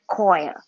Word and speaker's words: coir: Co Co IR where according to google when you pronounce it it was a Koi Koi Co Co Co so that's it I